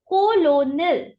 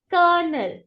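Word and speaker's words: colonel: right rank officers Army now how do we mispronounce it we say it as colonal colonal but it is not colonal but it is colel what is that colel repeat after me colel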